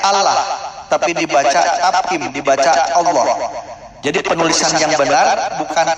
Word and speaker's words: Allah: maupun Alquran tertulisnya Allah tapi dibaca tafhim Dibaca Allah jadi penulisan yang benar bukan Allah tapi Allah dibacanya tapim dibaca Allah dan ketika kita mengucapkan